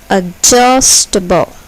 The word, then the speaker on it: adjustable: Adjustable. Adjustable. Here, the second syllable is accented. Adjustable.